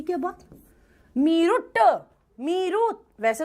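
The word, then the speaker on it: Meerut: तुमको प्रोनाउंसिएशन नहीं आ रहा। कोई बात नहीं। तुमने लिखा मेरूट। मेरुरट लिखा इंग्लिश में और हिंदी में कर दिया मेरठ। ये क्या बात? मेरुट। मीरुत वैसे तो इसको स्पेसिफिकली पढ़ोगे तो इट्स मीरुत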